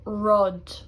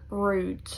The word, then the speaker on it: rud: I very often hear this getting pronounced like rude, but it would only be pronounced like that if it had a fada on the U. U without fada is just rud.